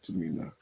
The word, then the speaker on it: Timnah: So they pronounce it like this, Tamina.